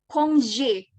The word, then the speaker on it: congé: Nah, jadi ini bunyinya bukan seperti yang kalian kira gitu ya. Bunyinya itu adalah congé, ya, congé, ya. Pasti ini persepsi awalnya mengiranya bunyinya bukan congé ya. Tapi kalau dalam bahasa Prancis kita bunyikannya dengan congé, ya.